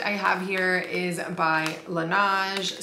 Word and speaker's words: Laneige: have here is by lanaj some people say Laneige I don't really know how to pronounce it so I just say lanaj and it just sounds